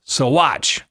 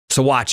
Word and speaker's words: Saguache: Let me know it's pronounced Saguache, apparently the Saguache Indian tribe. I lived in Colorado all my life. It doesn't come up very much in conversation, the pronunciation of Saguache or Saguache. Saguache it is.